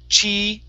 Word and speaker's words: cheese: So it's cheese. So pause right after that E.